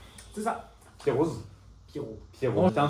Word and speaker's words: Pierroz: On dit Pierro. Pierro. Ouais. OK. Comme le prénom en fait en tuas un en Suisse on ne prononce pas les dernières lettres.